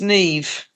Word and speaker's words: Niamh: Yeah, my Christian name is Neve. Oh, is that spelled the weird Irish way? The Niamh?